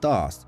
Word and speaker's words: Даат: грі можна почути що сетрот промовляє слово даат як даас Що більше відповідає правильній вимові на івриті у всесвіті волфенштайн нацистським